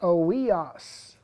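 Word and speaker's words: υἱός: And that is completely false, because the scriptures that talk about adoption, it's a Greek word pronounced oios.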